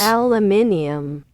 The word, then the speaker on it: aluminium: Aluminium. Aluminium. There's something extra about making it on slow mode and then say it. Okay, I'm content. I'm content. Alumina. It's aluminium. Aluminium. You Americans removed the second L.